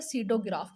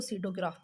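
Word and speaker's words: pseudograph: उसके बाद नेक्स्ट आ जाता है सीडोग्राफ। इसमें जो पी होता है ये आपका साइलेंट होता है। तो हम इसको सीडोग्राफ पढ़ते हैं।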